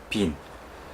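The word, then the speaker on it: Wien: 독일 현지 발음으로 독일어로 빈 이렇게 되죠.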